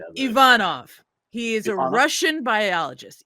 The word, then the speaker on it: Ivanov: Russi are gonna come at us about our pronunciation help us out it's e e Ivanov for the rest of the the episode Ivanov